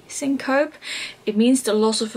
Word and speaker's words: syncope: is a syncope I don't know how to pronounce it Cinco P syncope it means the loss of a vowel when